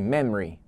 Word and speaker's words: memory: É interessante dizer que quando você estiver conversando e falar esta palavra, você pode tirar o O, tá? Ficando assim, memory. Memory, memory. Isso no inglês falado.